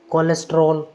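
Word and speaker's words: cholesterol: आपको याद रखना है कि सी एच से पहले कुछ नहीं हो, सी एच के बाद में ओ वोवेल हो, ओ के बाद में एल कॉन्सोनेंट, एल के बाद में ई वोवेल, उसके बाद में कुछ भी हो, तो ऐसी कंडीशन में सी एच का उच्चारण होगा क।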